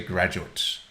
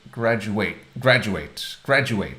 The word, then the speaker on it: graduate: If it is a noun, then you say graduate, stressing the first syllable. But the verb is graduate.